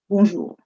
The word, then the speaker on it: bonjour: Bjour bourjour. Please don't say there is no J here. It's bjour.